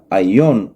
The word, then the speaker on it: aion: en hebreo olam y en griego se pronuncia aion o aionios.